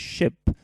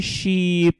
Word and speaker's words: ship: ship your attention here the value is very short with this ship if you say sheep and make it longer it's gonna be something else great she put double